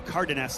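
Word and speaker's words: Cárdenas: Yeah, I think that's going to be Thomas Shrag and Cardinus. I did a little pronunciation research on that one from Peru. Cardiness, I'm being told. So, Andre said I had it pretty close, so I'll take that for now.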